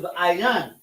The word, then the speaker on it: ayin: So a eye eye is ayin. But yam at the end of it make it eyes, plural. So ayin yam is is eyes, plural. So ayin is how you say eye.